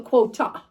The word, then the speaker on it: quota: So quota. Sorry. It's not an R over there. Quota. All right. Especially when we don't pronounce our R's.